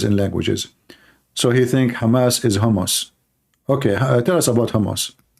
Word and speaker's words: Hamas: Trump, he do not know how to say the word Hamas. He called them hummus. He just called Hamas hummus. Hamas.